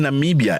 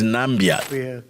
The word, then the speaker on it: Namibia: Let me remind you in 2017 US President Donald Trump was ridiculed for infamously mispronouncing Namibia as Nambia, Ghana, Guinea, Nambia.